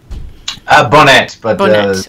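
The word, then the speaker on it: Bonnett: Bonnet. Fine. Yeah. It sounded like it might need to be French pronunciation, but I was incorrect.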